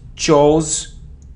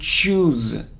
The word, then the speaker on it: choose: So it isn't chose, chose or choose, it choose, choose, it's long sound, choose.